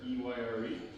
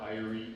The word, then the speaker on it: Eyre: Everyone will have, Jane Eyre. It went nowhere, and people don't associate a classic English novel with a bike, believe it or not. So we got so many mispronunciations of that Irie, Erie.